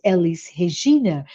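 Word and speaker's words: Elis Regina: Brazilian musician uh um her name in Portuguese would be pronounced Elise hegeena and she sings and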